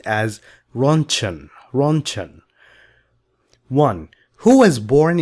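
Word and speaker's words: Röntgen: If you are wondering why this letter looks like this, that's because this is a German name, not English. This is why it looks like this. It is pronounced as runchan.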